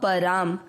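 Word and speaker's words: परम्: में अमिक्स करना लभते प में अ मिक्स करना है प र के साथ आधा म पराम चौथा चरण रिपीट मद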